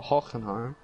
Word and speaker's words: Hockenheim: it huh supposed to even know how to pronounce it well hockenheim yeah like that that's how you pronounce it